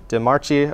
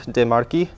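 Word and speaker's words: De Marchi: So we've got the CHI, a normal American would probably pronounce this DeMarchi or something. So it's actually a key sound, DeMarchi.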